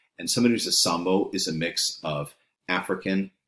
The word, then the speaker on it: zambo: And there are people who are known as zambos. It's not pronounced zambo because in Spanish, of course, the Z makes an S sound. And somebody who's a sambo is a mix of African and indigenous ancestry.